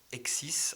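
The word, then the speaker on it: hexis: Un un terme qui est euh celui de Exis.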